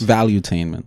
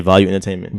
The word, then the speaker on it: Valuetainment: Yeah, Value Entertainment. Valuetainment. It's valuetainment. Oh, yes, one like he made one word with it. Yeah. The way it's spelled, it has like 2 E's, so I just separated it.